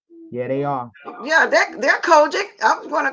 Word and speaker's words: COGIC: you've grown up tough customer I don't know pronounce it right what like kojic - yeah they are yeah they're kojic I'm gonna call the Church of God in